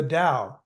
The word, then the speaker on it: Tao: is called you know universally called the da but it's spelled Tao and that refers to